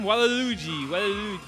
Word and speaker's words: Waluigi: Waluigi.